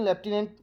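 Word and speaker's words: Lieutenant: ये स्पेलिंग ध्यान दीजिएगा, लेफ्टिनेंट और कर्नल की स्पेलिंग, ये लियोटिनेंट करके स्पेलिंग रहती है, लेकिन लेफ्टिनेंट है इसका प्रोनाउंसिएशन, ये कॉलोनल यानी कि कर्नल।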